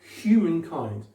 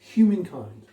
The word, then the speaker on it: humankind: mettrais pas, parce que le H en général, enfin, tout le temps, il est muet en français. En anglais, non, c'est une consonne à part entière. Donc, d'accord? Humankind. Accentuation secondaire, accentuation principale. Humankind.